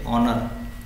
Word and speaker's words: honour: जैसे एन ऑनर, जैसे मैं एग्जांपल लूँ, सो यहाँ पे ऑनर HONOUR, ठीक, ऑनर। सो यहाँ पे आएगा एन बिकॉज ये जो प्रोनाउंसिएशन हो रहा है वो अ से हो रहा है, ऑनर करके।